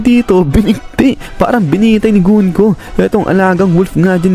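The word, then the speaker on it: Gunko: Dito nga ito si gun ko sa gun ko guys pala yung tamang pronunciation sa pangalan nito Ay sabi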